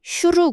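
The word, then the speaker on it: שור: 황야를 뜻 하는 단어는 " 슈르 " 입니다 . 족장 의 이름 은 " 주르 " 입니다 . 발음도 다르고 의미 도 완전히 무관 합니다 .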